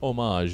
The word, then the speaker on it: homage: let's say homa homage why did i almost try to pronounce that h really hard homage in the spirit of let's say homage in mind uh take